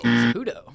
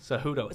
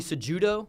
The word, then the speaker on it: Cejudo: player on the board oh boy Henry Kudo cejudo cejudo so this one's pronounced with an H the other one's not